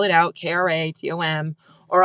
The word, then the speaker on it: Kratom: And sometimes I'll spell it out, Kratom, or I'll say it rhymes with schmatum and starts with a K.